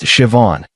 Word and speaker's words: Siobhan: Her name was Siobhan, pronounced Siobhan. She taught me after I butchered it three times.